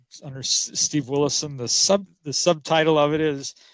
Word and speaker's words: Willison: Last name's Willison, Willison.